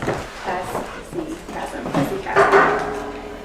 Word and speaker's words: hesychasm: If you want to spell it, it is HESYCHASM. And it's pronounced hesychasm.